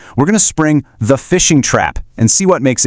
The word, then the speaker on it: phishing: Okay, let's start with the number one way attackers get in the door, the phishing trap. And the name, spelled with a ph, says it all. It really is like fishing.